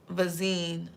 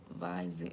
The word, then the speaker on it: Visine: Somebody I'm y'all got to I be man YouTube vazine. Viv. Oh, Visine. Oh, Visine. Yeah, it's Visine. Thank you, Auntie Fee. Visine. Yep. Somebody's husband was putting Visine in her.